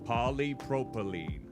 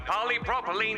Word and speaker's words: polypropylene: with this uh the sentence how do you pronounce it again polypropylene polypropylene got it using a polypropylene drinking apparatus is provided for us to use